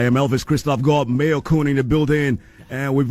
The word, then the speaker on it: Mayorkun: Because it only makes sense that it's Mayorkun because that's the mayor.